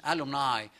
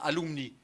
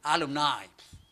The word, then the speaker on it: alumni: Un jour, allant à une réunion des famous alumni, alumni c'est le mot latin, alumni, les élèves, prononcé à la manière affreuse de l'anglais, alumni, c'est-à-dire ce sont les